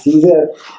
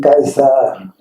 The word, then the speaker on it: Caesar: English pronunciation is Caesar, but the Latin pronunciation Kaiser.